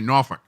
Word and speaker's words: Norfolk: Yeah, and you like to pronounce it correctly, Norfolk.